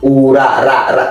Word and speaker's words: Urakomeye: Is it ora or ola? Ura. You gotta roll your R. Say it one more time. Urakomeye. Ora. Ooh. Ura. Yeah. Ula. No, not la. You gotta. There's like a thick R or deep.